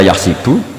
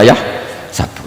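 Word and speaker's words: يحسب: Karena dalam qiraat sab'ah ada yang baca yahsibu, qiraat kita baca yahsabu. Tapi guru-guru kita kalau ngajar fikih itu bacanya yahsibu. Tapi kalau baca Quran yahsabu. Ya kan Quran kita kan ayahsabu Allah yaqdiru alaihi ahad, bukan dibaca ayahsibu.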